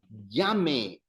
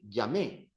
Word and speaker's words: llame: So yo llame. But remember the emphasis, eh? The emphasis is on the second last syllable. Don't say llamé, because as soon as you say llamé, you're turning that into I called.